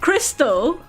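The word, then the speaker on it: Krxstxl: to name her daughter confused the name is pronounced Crystal excuse me it's pronounced cricks as [ __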